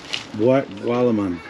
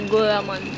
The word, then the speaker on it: gulaman: So how do you explain the flavor of Gualaman? Is that how you say it? Gualaman? Yeah, gulaman. Gulaman.